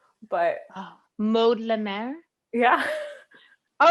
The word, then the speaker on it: Maude Lemaire: Yeah, I mean, if you want to say it the real French way, it's Maude Lemaire, but Oh, Maude Lemaire.